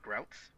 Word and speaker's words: Grotus: So it's like Grouts. Yeah, I guess it would be Grouts. Would probably be a better way to pronounce that.